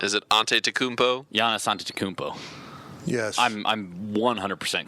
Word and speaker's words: Antetokounmpo: about a try at the Greek freak Giannis Antetokounmpo? That's not it. I don't know what it is. It's Antetokounmpo. Is it Antetokounmpo?